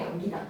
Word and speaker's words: 안기다: 다만 에다가 세모 피동 사동 전미사기를 된 소리로 발음하지 않는 이유 생각해 보세요. 왜 피동산동 전미사 기는 된 소리로 발음하지 않는 걸까요?